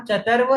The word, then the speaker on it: चर्त्व: बस बस अब मैं बोल देता हूँ, चतर्व चरत्व नहीं है, चरत्व नहीं है, चतर्व चतर्व है। क्योंकि त के बाद में वो है, उसके ऊपर रेफ का सिंबल है, तो त के बाद में र का उच्चारण आएगा ना।